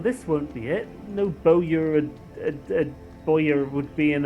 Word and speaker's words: Bowyer: No Bowyer and Bowyer would be in a ruined building like this.